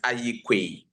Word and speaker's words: Aryeequaye: pronounce the second name of yours? The second name is Aryeequaye.